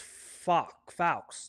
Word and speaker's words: faux: But his name is Faux. That means lie.